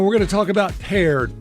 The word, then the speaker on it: Peared: It's paired.